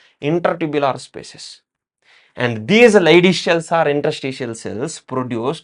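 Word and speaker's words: Leydig: also so called as Lish cells Lish cells okay it is l e y d g but while pronouncing we need to pronounce as Lish okay it is a German name these are the Lish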